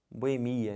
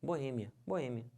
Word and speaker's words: Boêmia: finalizando essa palavra aqui que o pessoal fala como Boemia né Boemia tá errado certo é minha Boêmia Então você separa assim uma boa hein a sílaba tônica é esse e que já tá até acentuado não pode falar